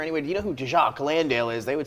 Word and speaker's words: Jock: You guys say Jacques. Jock Landale. That's St.